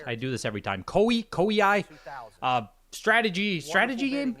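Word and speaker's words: Koei: Koi Ki strategy strategy game, right? Yeah, it's Kaii.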